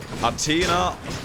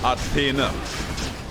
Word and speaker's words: Athena: Athena is either Athena or Athena. I don't know what the exact difference there is, but it's just that way.